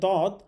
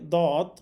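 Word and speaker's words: ض: দদ হরফের মাখরাজ হচ্ছে দদ মারির দাঁতের গোড়া থেকে মোটা করে পড়তে হয়, অর্থাৎ জিহ্বার যে কোনো একটা সাইড অথবা দুই সাইড মারির দাঁতের গোড়ার সাথে লাগিয়ে উচ্চারণ করতে হবে।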